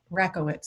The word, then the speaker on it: Rakowitz: friend of mine sandy rockowitz is that how you say it sandy rocco wits i want to make sure uh like the tennis racket rackowitz rackowitz thank you thank you